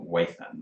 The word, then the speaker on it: Weithand: e i t h a n d e wayfand i'm going to say um and waythant is